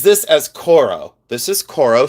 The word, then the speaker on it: Coro: This is cororo.